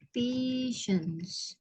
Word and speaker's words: patience: Ini mirip-mirip ya cara bacanya. Yang kalau atas tuh kan artinya pasien, pasien ya. Kalau yang ini patient, artinya kesabaran, sabar. Cara bacanya mirip ya. Patient, patience. Ada CE-nya di belakang.